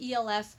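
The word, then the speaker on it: e.l.f.: keep calling this CLS I think it's pronounced e.l.f I've said it Els my entire life because it's an abbreviation Els but everybody calls it elf and until I started watching YouTube videos I didn't know anyone pronounce it that way I've always pronounced Els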